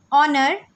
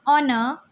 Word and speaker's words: honor: Honest, honor. Both these words begin with the phonic sound O, a vowel sound. Hence, we say an honest man. It's an honor because H is silent in these words.